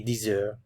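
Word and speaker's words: dix heures: Il est 10 heures. Il est 10 heures. Liaison here sounds like a Z. 10 heures. 10 heures. And the H is silent.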